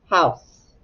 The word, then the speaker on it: house: then s house and the e is silent house all right let's